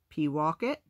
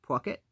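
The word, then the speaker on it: Pawcatuck: what the map said she pronounced it p walk it the guard listening narrowed his eyes from pocket the voice asked saying it poke it and yeah cents a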